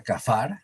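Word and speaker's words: כפר: palabrita es un verbo se pronuncia kafar en hebreo y significa cubrir acuérdate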